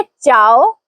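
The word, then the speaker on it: ciao: इसे हम पढ़ेंगे चाव ना के।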